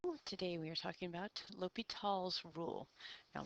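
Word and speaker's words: L'Hôpital: we are talking about L tall's Rule now looks like it says the hospital but it is not it's pronounced Lal um and lal's Rule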